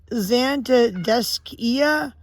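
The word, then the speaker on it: Zantedeschia: of your names the the CH is usually pronounced like a k so it's zanta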